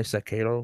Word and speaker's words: Sekiro: Actually, technically, this is an I. Sekiro would technically be correct.